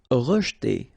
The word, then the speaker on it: rejeter: Rejeter. Okay, so here the is not really pronounced, so you get rej. Okay, so pronounced like rejeter, rejeter.